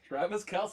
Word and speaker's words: Travis Kelce: Travis Kelce, you are such a fan.